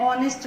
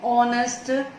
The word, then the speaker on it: honest: Though it starts with a consonant letter H, but H is silent here and is pronounced as vowel.